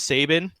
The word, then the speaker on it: Sabin: from this it's that it's pronounced Sabin on our discord I pulled out multiple links any real person living with this name there's very a lot of famous Saban's out there it's a real name like Zidane I mean I don't care how you pronounce fetus or jekt or whatever because those are fake made-up Fantasy names right but Sabin is a real-world name look up Albert Sabin